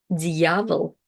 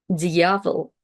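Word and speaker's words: дьявол: a little pause, but it does make the preceding consonant soft. So here we have the word diavel, diavel. And again, it also restarts the vowel in its full kind of like sound ya after it.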